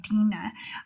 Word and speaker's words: Dinah: but I know that in Hebrew it's pronounced Dinah. I said Dinah because I was tying in the DC character and they pronounce her name Dinah.